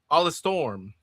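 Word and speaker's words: Alestorm: Stu says the pirate metal band is pronounced Alla Storm.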